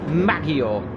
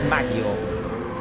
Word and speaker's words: Maggiore: We are in, I'm going to pronounce it, Maggiore. Not Maggiore Naganet, but just Maggiore.